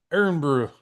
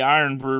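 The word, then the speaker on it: Irn-Bru: They have to use other things to power the robots like tea, milk, and um I just Iron pronounce brew. Iron brew.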